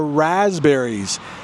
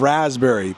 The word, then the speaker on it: raspberry: spelled for some reason there is a p in the middle of raspberry but trust me we do not pronounce that P raspberries are usually red but